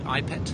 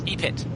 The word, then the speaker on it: ePET: um you mentioned uh ipet is that how you pronounce it ipet EP epet epet epet can you describe epet